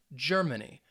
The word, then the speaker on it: Germany: has three syllables and that stress you should have said the first syllable so the first syllable is going to get that emphasis germany if you got that